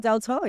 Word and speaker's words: Deltore: DelTore. Yes, I'm like, I get this right. The pronunciation of my names have been so off.